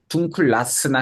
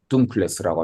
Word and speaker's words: dunkles: 그래서 이것도 사격 중성 단수를 표현할 때 다스를 와줘야 되니까 그 다스의 변화형이 발음 변화 때문에 둥클라스나 헬라스가 아니고 헬레스 오더 둥클레스라고 하면 일반 맥주 드릴까요?